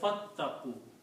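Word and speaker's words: فاتقوا: And when you read fa, then you do not pronounce this alif here. You say fattaqu.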